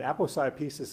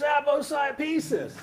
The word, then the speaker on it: aposiopesis: But my daughter used to call it apple pie pieces, and that's how you can remember how to pronounce it, Charlie.